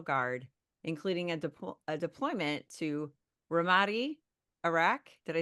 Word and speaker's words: Ramadi: His commitment to service runs deep, with over 2 decades in the Army National Guard, including a deployment to Ramadi, Iraq. Did I say it right? Ramadi?